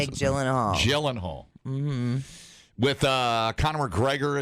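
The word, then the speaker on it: Gyllenhaal: Jake glan Glen Glen Hall what's how you pronounce gyllenhal gyllen Hall mhm with uh Conor McGregor is in there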